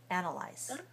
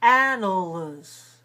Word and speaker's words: analyze: have ah sounds but in english no we say ah on the stress syllable and we say uh on the weak civil syllable ana analyze analyze and the third syllable is what do you say clear or unclear analyze it's clear it's clear we say eyes we don't say animals that's not the word analyze so lies i is